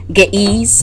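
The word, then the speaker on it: Ge'ez: talk about the uh ethiopic script or get ease or ease is spelled ge with like apostrophe and then it's like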